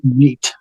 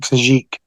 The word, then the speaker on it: Khajiit: But in the game, they say Khajiit. Huh? In the game, most of the voice actors pronunciate it Khajiit.